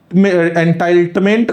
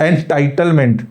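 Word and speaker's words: entitlement: परिवार को PVTG एंटाइट एंटाइल्टमेंट card इसमें दिया जाएगा एंटाइल्टमेंट ठीक है टाइटल वाला एंटाइटल एंटाइटलमेंट ठीक प्रोनाउंसिएशन में शायद थोड़ा सा मिस्टेक हो रहा है एंटाइटलमेंट पीवीटीजी एंटाइटलमेंट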